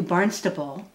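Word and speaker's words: Barnstaple: a striking resemblance to barnstable pronounced with a b but spelled with a p england reverend lothrop and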